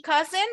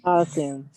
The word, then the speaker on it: cousin: Aquí, como en el caso de aunt, tampoco voy a pronunciar la U. No voy a decir cousin. Voy a decir cousin. Hagan de cuenta que la U no está ahí.